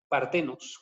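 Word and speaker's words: παρθένος: Partenos. Como se escucha, nada más pónganle una H entre la T y la E, partenos, ¿sí?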